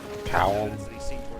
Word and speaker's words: Kaom: The guy at the end of that thing, Kaum. I don't know how to pronounce it. It's Kaom.